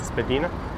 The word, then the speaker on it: Spadina: Trey says when you move to Toronto, you pronounce Spadina as Spadina.